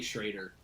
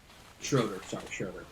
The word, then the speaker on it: Schrader: I'll tell you right now, your name is Schrader, but you say Schroeder, so I'll say it for you.